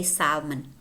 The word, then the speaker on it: salmon: pong pong wood wood salmon salmon in British English they say Salman okay but in American English we don't pronounce that salmon calm I said calm